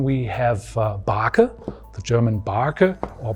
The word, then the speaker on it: Barke: Here at Weyermann we have Barke, the German Barke or Barke as a lot of people pronounce it in English-speaking countries.